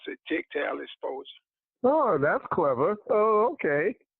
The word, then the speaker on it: Tygtal: It's pronounced Tygtal. And what it stands for is take your game to another level. And we pronounce it Tygtal Exposure.